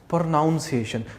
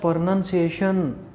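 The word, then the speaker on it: pronunciation: चलो, तो इसको कुछ बच्चे बोलते हैं प्रोनाउंसिएशन। बच्चे प्रोनाउंसिएशन नहीं, इसको हम बोलते हैं प्रोनंसिएशन। ये प्रोनाउंसिएशन नहीं है। ठीक वैसे ये एडजेक्टिव नहीं है, ये एडजेक्टिव है। ये प्रोनाउंसिएशन नहीं, प्रोनंसिएशन है, प्रोनंसिएशन।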